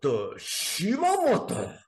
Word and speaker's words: Shimamoto: So if you want to say it the way you're supposed to say it, it's Shimamoto.